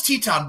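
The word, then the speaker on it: Titán: I know it's Teton, but it's spelled Titan, goddammit.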